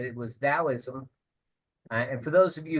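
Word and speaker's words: Taoism: he said it was Dowoism. And for those of you who don't know what Dowism I I you I pronounce it with a D but it's spelled with a T. And talism is uh a sister to Buddhism.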